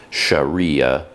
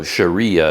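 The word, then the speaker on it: Syariah: the longest time so Sharia is spelled s-y-a-r-i-a-h and I didn't know what that word was and I didn't know how to say it but then someone eventually told me that no it's it's the same it's it's because this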